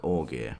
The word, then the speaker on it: Augier: going to talk about mark uggier or as i'm going to pronounce in the english way mark orgy he's also known as